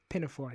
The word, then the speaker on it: pinafore: Pinafore. Yes, that's how it's pronounced.